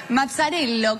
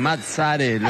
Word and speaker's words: Mazzarello: ustedes les parecen, Mazzarello. ¿Cómo está, Marcelo? Muy bien, qué lindo pronunciado así, italianísimo. Muy bien, Mazzarello, exactamente.